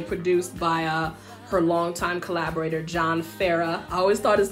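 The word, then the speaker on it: John Farrar: The remixes are, the song was originally produced by her longtime collaborator, John Farah. I always thought his name was Farrar, but it's John, it's the Australian pronunciation, John Farah.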